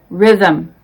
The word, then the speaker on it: rhythm: spellings who whose whole the h is silent in these words our honest honor air oh vehicle exhausted exhibit rhyme rhythm some common expressions are